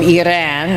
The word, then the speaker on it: Iran: There are a lot of people from Iran, that's the correct way to pronounce it.